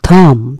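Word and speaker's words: thumb: এই বানানে খেয়াল করবেন, স্পেলিং এ খেয়াল করবেন, উচ্চারণে খেয়াল করবেন। থ্রো মানে হচ্ছে ছুড়ে মারা, ছোড়া, নিক্ষেপ করা, ক্ষেপণ করা। থাম, থাম শব্দটি কেন দিয়েছি?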